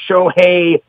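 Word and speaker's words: Shohei: and what a superstar show hey Otani and let me just let everyone know that there is your proper pronunciation so stop fouling it up Joe hey hey Joe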